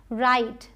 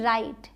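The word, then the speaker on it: write: राइट डब्ल्यू आर आई टी राइट इसे retain ही बोलेंगे। वाइट डब्ल्यू एच आई टी ई वाइट line time side ये जो last में इ है ये सब साइलेंट हैं। इनको हम प्रोनाउंस नहीं कर रहे हैं।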